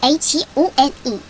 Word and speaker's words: phone: P랑 H가 만나면 이때는 우리가 아까 위에서 배웠던 F 발음인 이빨을 물고 아랫입술을 물고 바람이 빠져나가는 F 소리가 나면서 H는 묵음으로 바뀝니다. 그래서 PHONE 그럼 폰이 되죠. 그래서 phone PHOTO 포토입니다.